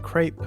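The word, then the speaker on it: crepe: 우리말로는 크레페 라고도 하는데 영어로 발음은 크 레 이 크 라고 발음합니다 복수는 크라이스 가 되겠습니다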